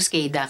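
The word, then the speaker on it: SCADA: of question doon sa skada skada pala yyung pronunciation non So yung logs niyo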